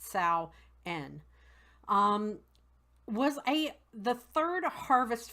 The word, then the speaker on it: Samhain: spelled s am h AI n but it's pronounced Sal N was a the third harvest festival of the